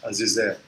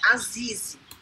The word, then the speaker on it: Azize: Que tanto se fala e que é uma coisa muito difícil, né, Azizé? Eu acho Azizé, né, que fala, né? Na verdade, o H não se pronuncia, mas tá tudo bem. É Azize. Azize.